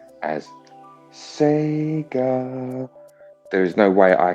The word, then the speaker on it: Sega: in japanese and and i know how to pronounce that 100 and that is sega it's very short and sweet and obviously when they do it at the start they just elongate it see obviously obviously it's